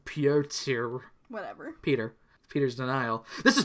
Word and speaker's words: Piotr: So Dance's dad, Peter, his name, pronounced Piotr.